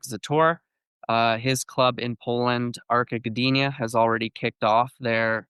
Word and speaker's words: Gdynia: Recently joined a new team that is called Arka Gdynia. Did I pronounce that correctly?